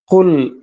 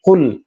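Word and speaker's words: قُلْ: ഒരു ബലം പിടുത്തം വരുന്നില്ലേ അങ്ങനെയാണ് കുൽ അങ്ങനെയാണ് ശരിക്കും അതിന്റെ ഉച്ചാരണം മുറിയണം കുൽ അങ്ങനെ മുറിച്ചു പാരായണം ചെയ്യാൻ ശ്രദ്ധിക്കണം എന്നതാണ് പിന്നെ എന്താണ് ശ്രദ്ധിക്കാനുള്ളത്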